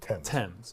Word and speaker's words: Thames: Thames they spelled it correctly but it's just pronounced ten tens not things okay good to know so we